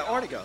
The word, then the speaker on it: Ortego: The yeah, I want to make sure because there's an Artigo, but I'm from the Pacific Northwest and it's pronounced Artigo. Yeah, Ortego, that's right.